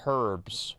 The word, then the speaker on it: herbs: Yeah, it's pronounced herbs, right? That's why there's the H at the beginning.